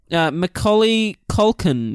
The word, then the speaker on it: Macaulay Culkin: Macaulay Culkin is this kid's name. Say it with a real Aussie accent and it'll be really easy to do. Macaulay Culkin. Macaulay Culkin, eh?